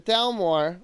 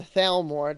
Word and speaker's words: Thalmor: so basically, the Thalmor, or the Thalmor, depending on your pronunciation, come from a long line of elves called the Altmer, or the Aldmer.